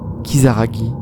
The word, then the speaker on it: Kisaragi: le nom de cette station bien qu'il soit prononcé kisaragui est écrit avec le kanji qui signifie démon